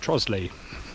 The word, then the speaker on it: Trottiscliffe: Not Trottiscliffe, how it's spelt. It's pronounced Trosley. It's one of those weird Kentish pronunciations.